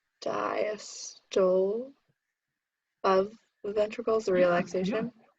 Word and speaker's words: diastole: Diastole of the ventricles, the relaxation. Yeah, good for you. Excellent. Good job. It's diastole. That's how you Okay. pronounce that.